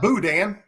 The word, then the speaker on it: boudin: you say it yeah but look at how it's spelled how in the world does that come out boudin it's french it's not supposed to make sense you know this i